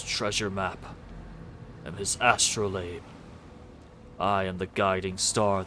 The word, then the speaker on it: astrolabe: I can never remember if it's astrolabe or astrolab. I think it's labe. Astrolabe. Pronunciation. It's labe. Astrolabe. Different. Astrolabe. I was correct the first time.